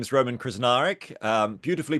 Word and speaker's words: Krznaric: group sure so yeah my name is Roman krznaric um beautifully pronounced Onna by the way you're you're krar